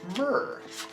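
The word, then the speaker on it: myrrh: a known antidote to Black hore it is myrr myrr like frankincense and myrr like spelled the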